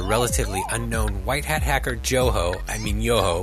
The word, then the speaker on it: Johoe: Let's go back to 2014 when the relatively unknown white hat hacker Johoe, which is the correct German pronunciation.